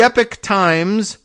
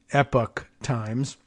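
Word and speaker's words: Epoch Times: really a news organization The Epic Times and you know that that's spelled EPO C Epic Times directed millions of dollars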